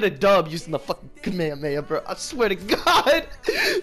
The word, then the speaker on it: Kamehameha: And before y'all come for my fucking throat, Kamehameha Wave is how it is actually pronounced in Dragon Ball, the original series, okay?